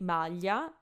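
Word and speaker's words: maglia: one of my examples I say malya malya which is the standard pronunciation whereas Romans will say something more like nyeh nyeh so it's kind of like a strong wine now if I didn't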